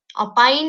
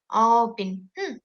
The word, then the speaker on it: opine: তো ওই ওই হিসেবেই কিন্তু আপনার হচ্ছে যে এখানকার যেটা আপনার উচ্চারণটা চেঞ্জ হচ্ছে, অপাইন না হয়ে অপিন, এরকম হচ্ছে।